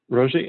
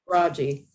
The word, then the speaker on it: Rojee: Rosie, and am I pronouncing your name right? It's pronounced Raji. Raji, okay, thank you.